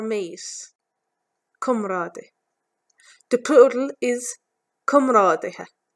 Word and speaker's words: comrádaithe: The plural is comrádaithe, comrádaithe. Do you find Irish spelling difficult to read and pronounce?